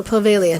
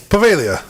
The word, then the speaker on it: Poveglia: of like bologna i guess you don't say the g in that one yeah that looks italian baloney's disgusting it is it's just leftover meat upside down so pavelia no g pavelia so um silent g i guess for for a long